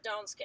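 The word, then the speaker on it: Gdańsk: It's Gdansk.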